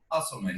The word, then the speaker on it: Usselman: How do you say Mark's last name? Usselman? Usselman, yep.